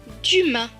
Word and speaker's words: Dumas: Le S à la fin ne se prononce pas puisqu'il est écrit en bleu. Donc ce mot va se lire du ma. Dumas.